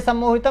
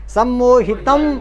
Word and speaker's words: सम्मोहितं: जा रहा है ना, तो ये सम्मोहितम में जो अनुस्वार है उसको इया वाला उच्चारण, ऐसा ये आधा इया का उच्चारण आपको कर, इसलिए मैं बोल रहा हूँ सम्मोहितं जगत, सम्मोहितम ऐसा नहीं, सम्मोहितं जगत, इया वाला आधे इया वाली फीलिंग आनी चाहिए, क्योंकि आगे जो अक्षर